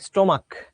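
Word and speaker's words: stomach: না, এইচ এর উচ্চারণ হবে না, স্টোমাক। স্টোমাকের মধ্যে কি এইচ এর উচ্চারণ হয়? কখনো কখনো সি এইচ এর উচ্চারণ ক এর মতো হয়।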